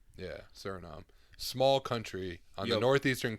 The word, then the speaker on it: Suriname: Suriname. Yeah, Suriname.